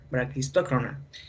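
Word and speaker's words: braquistócrona: Bien, en ese caso, cuando Bernoulli vio esa solución del problema de Branquistocrona, es así, se pronuncia de esa manera, Branquistocrona, y de otro más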